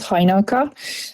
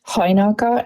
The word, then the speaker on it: Hajnalka: Yes, so my name is Hajnalka. The emphasis on the H, Hajnalka, and I've been told, since it's a hard name to pronounce, that it sounds like the beer Heineken or the holiday Hanukkah.